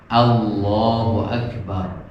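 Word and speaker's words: الله أكبر: Yang betul adalah lam saja. Allahu Akbar. Dan lamnya adalah lam tebal. Lam tebal itu adalah lam yang ujung lidahnya itu rada agak melebar.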